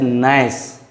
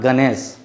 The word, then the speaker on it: gnash: Just see, GN is in the beginning, hence G has no sound. Hence the word will be pronunciated as nice, not Ganesh.